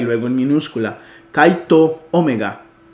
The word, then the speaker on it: omega: El Alfa y la Omega como en ópera esta o es una o larga Omega ópera Seguimos entonces